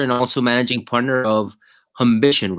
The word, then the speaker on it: humbition: you're the founder and also managing partner of aition right that's how you you pronounce the the fund exactly yeah it's an